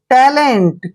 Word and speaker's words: talent: देखिए टी का उच्चारण टे करते हैं, ए को ए की मात्रा पढ़ते हैं और एल का उच्चारण ले करेंगे और ई को ए की मात्रा पढ़ेंगे, एन को आधा न पढ़ेंगे और टी को टे।